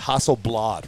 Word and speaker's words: Hasselblad: can only i never say it right it's hasselblad right yep and it got a zoom lens